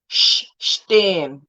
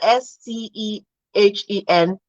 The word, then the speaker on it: stehen: Once a consonant follows that S, it changes. It becomes SH.